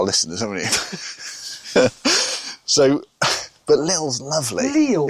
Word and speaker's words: Lille: you pronouncing that? Lille. No, how are you pronouncing it? Lille. Better. But I'm just doing it for the audience, aren't I? You kept saying... We've got to Lil. dumb this down. You kept saying little.